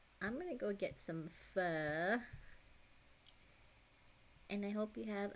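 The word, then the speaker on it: phở: noodle Vietnamese noodle broth don't tell me you pronounce it like foe he said no I said fur yeah that's how you pronounce it fur I don't fit I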